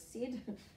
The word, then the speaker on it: said: And I'm just going to pick on one, and that is said. We still sound them out, s-e-d, but we know that the e is written with an A and an I.